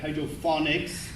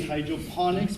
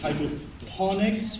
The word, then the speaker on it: hydroponics: They always say like hydrophonics. It's actually hydroponics because phonics means comes from phono. In Hindi, it means sound, and it's like telephone, microphone. So it's not that. It's hydroponics, which means to work with.